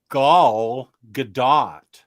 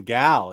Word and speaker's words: Gal Gadot: saw an interview where she said it was pronounced gaul gadot so it's not even gal it's gaul gal gadot that's too